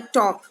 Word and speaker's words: talk: अब इसमें कौन सा वर्ड साइलेंट है, कौन सा वर्ड चुप है? TALK. हमने बोला टॉक, TAK. ये L जो है वो साइलेंट है. हम क्या बोल रहे हैं? टॉक, TAK टॉक बोल रहे हैं. L नहीं बोल रहे हैं.